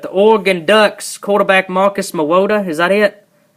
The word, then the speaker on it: Mariota: I can't pronounce his last name to save my life, but the Oregon Ducks quarterback Marcus Mariota, is that it? Mariota.